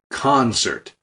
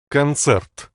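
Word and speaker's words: концерт: an ad for concept in English we emphasize the first syllable concert but in Russian it's cancer and in this door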